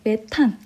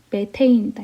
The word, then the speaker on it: 메테인: 자, CH4인데 메탄. 왜 얘를 탄이라고 발음했는지 알겠죠? 그렇지만 정식 명칭은 뭐다? 메테인이다.